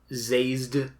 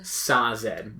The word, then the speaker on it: Sazed: it has come from brandon that it is supposed to be pronounced sazed that is the pronunciation exactly the official pronunciation but it is spelled s-a-z-e-d yeah and in my brain i will probably always say zazed yeah i just assumed like it smelled exactly like dazed so it should be